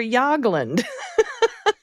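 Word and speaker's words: Jagland: Good yab on the name of the Norwegian prime minister Yagland. Correct on both the J and the G and the right as uh as well.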